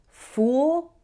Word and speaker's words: fool: It's different from the word full, which has an sound, like the same as in pull. It's a very small difference. Fool, full.